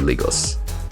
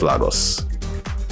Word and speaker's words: Lagos: It's pronounced Lagos, guys, not Lagos.